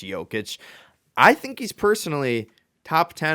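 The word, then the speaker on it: Jokić: I think it's pronounced Jokic.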